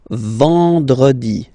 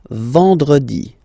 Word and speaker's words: vendredi: Then en, nasal, and it's en. So remember, vendredi, vendredi, vendredi, vendredi.